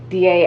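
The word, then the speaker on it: dē: Okay, when you're doing Latin, is it DA or die or What? D? Wait, what? DIE, Encephalitis D, Lethargica. or it's DA. You DA. pronounce every letter in Latin. DA, Encephalitis Lethargica.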